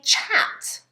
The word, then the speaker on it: chat: Now, in English, when we're talking informally, you might say that you're having a chat. Yep. Okay. Like cat, chat. What you don't want to do is change the ch to a sh and say, you can say this word.